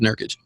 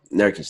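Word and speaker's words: Nurkić: So It was Nurkic. Nurkic, there you go. Yusuf Nurkic. Excuse me for saying your name wrong.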